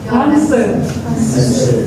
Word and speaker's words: answer: Answer. Answer. Jangan merasa enak dengan ada W di situ.